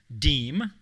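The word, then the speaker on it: DEAM: uh by many as deem which rhymes with beam as as in beam me up scotty um recognizes alumni whose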